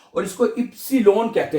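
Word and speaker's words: Ypsilon: आवा ये ये पढ़ा जाता है और इसको इ्सिलोन कहते हैं जर्मन जुबान में वाई को।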